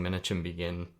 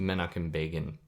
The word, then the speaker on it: Menachem Begin: I was saying Menachem Begin as how to pronounce their name, the president of Israel in the mid-70s, who was part of a terrorist organization before Israel was formed that had murdered hundreds of Arabs in Palestinian land, or Palestinians. It's actually pronounced Menachem Begin, if I'm pronouncing that right.